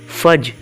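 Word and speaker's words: fudge: की इंग्लिश है फज फज याय डी साइलेंट है बर्फी की इंग्लिश है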